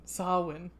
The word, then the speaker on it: Samhain: get a question mark samhain a gaelic word pronounced someone sawin so yeah saw one is usually celebrated from